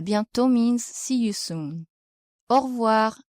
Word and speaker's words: au revoir: The letter A plus U is pronounced O, and the letter E is usually not pronounced, so you say au revoir. The letter O plus I is pronounced wa.